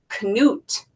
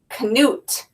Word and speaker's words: Knut: how to say the right way and it's Knut Knut and it says how one little polar bear captivated the world look at how cute he is and it's a real-life story so Knut is a real-life polar bear all right let's